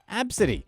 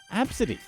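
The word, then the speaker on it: Abcde: laughed 5-year-old passenger's name Absidy, spelled A-B-C-D-E, within earshot of the girl and her outraged mother. This happened in Orange County, California in November 2018 when the employee noticed the young passenger's unique name pronounced Absidy.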